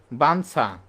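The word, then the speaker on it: বাঞ্ছা: কিন্তু এই যে ছ যে আমরা লিখতেছি ইর সাথে যখন ছ লিখতেছি ইও টা তখন আর উচ্চারণ করতেছি না ইটা আমরা কি ন বলতেছি বানছা তাহলে বঞ্চ তাহলে মন চো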